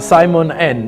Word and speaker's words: Simon N: Hey, and please do note with Simon N, the N is not pronounced as just single N. He writes it as Simon and EN, sounding as Simon N.